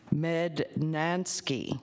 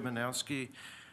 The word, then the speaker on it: Manowski: Medat, I'm gonna murder your name, Mednansky. It's three syllables, Charles. My name is Manowski.